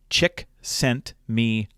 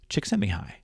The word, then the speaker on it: Csikszentmihalyi: a few years ago as his last name, Csikszentmihalyi. Csikszentmihalyi.